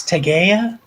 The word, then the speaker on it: Tegea: I think it's Tegea, but I think it's a soft G.